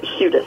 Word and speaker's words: Hudis: um with the my my husband calls it the Irish U so it's hudas I get huus sometimes but it's hudis hu hudis I'm glad